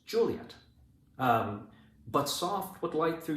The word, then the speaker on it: Juliet: You know, this rhythm is one of the reasons why we know her name is not Juliet, right? It's Juliet.